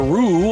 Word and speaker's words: Roo: Roo, or did I pronounce that correctly, who is in the picture behind you, correct?